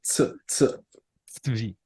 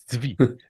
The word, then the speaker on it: Tzvi: Tzvi? Is that good? It's like a tsetse fly. Tzvi. Tzvi.